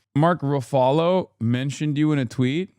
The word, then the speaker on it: Ruffalo: It's Ruffalo like Buffalo.